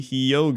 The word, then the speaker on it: Hyogo: on the weather for kaan Nish hyogo Japan pronounced kawwa Nishi hiyo dude I said it